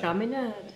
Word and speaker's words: Chaminade: Chaminade. Yes. Did I pronounce that right?